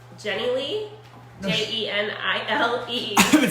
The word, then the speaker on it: Jenilee: It's pronounced Jenilee. Jenilee.